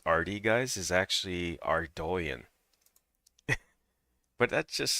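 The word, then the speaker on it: Ardougne: West Ardonan. I'm going to pronounce it Ardonan. I can't I just can't pronounce it like the proper way to pronounce RD guys is actually Ardoan, but that just sounds weird to me.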